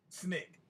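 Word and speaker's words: SNCC: student non-violent coordinating committee or snick which we pronounced snick okay i'm going now andrew will you take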